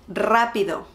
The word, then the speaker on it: rápido: Today we are going to learn something easy and rápido. Hi everyone, the word of the day is rápido. Rápido. You need to roll your R on this one.